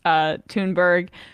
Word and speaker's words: Thunberg: So, Greta Thunberg, if you're using the the other pronunciation, the Swedish pronunciation, or Thunberg, she was on The View over on Friday.